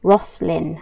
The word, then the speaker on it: Roslyn: Ross and then Lynn, Roslyn. Right, that's how we pronounce that.